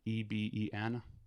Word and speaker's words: Eben: I believe I'm saying it right, Eben, e b e n. Yeah, it's Eben.